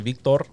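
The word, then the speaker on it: Víctor: It's actually Victor. About your 20%? If you guys can roll your R's when you address me, I would really appreciate that.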